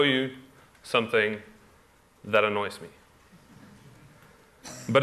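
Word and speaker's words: ب: Oh, this is the letter B, B. It's the second letter of the alphabet, just like in English. And it's pronounced like a shorter version of the English letter B.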